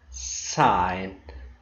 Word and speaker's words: sign: you some examples uh in the word sign the letter g is silent but it's not in the word signal i'm going to give